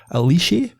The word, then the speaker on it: Alice: I always call her Alice, but it's, watching Josh O'Connor videos, he calls her Alicia. So that'll be the Italian pronunciation. That's how. So I'm going to call her Alicia.